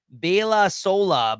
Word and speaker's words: Baila Sola: Baila Sola by Peso Pluma.